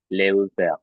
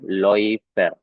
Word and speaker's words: Läufer: Nah, jadi ini dibacanya ya bukan menjadi Leuver ya, tapi dibacanya itu menjadi OI. Berarti bunyinya apa? Jadinya Loifer ya, Loifer.